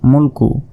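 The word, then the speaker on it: ملك: hill মিম লাম পেশ মূল কাফ পেশ কু ম মুলকু এখানে যদি আমরা ওয়াকফ করি তাহলে মুলক শেষের অক্ষরে সাকিন হিসেবে উচ্চারণ করতে হবে মুলক তাবারকাললাবিয়াদিহিল মুলক ও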